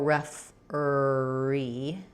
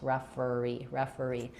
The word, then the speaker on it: referee: And then you can think about it as referee, or referee. It doesn't matter. The second R is just connecting the and E vowels, referee. So I go a little bit more with an I think. Some people would say more referee. Whatever's easiest for you, you just want to glide and connect referee.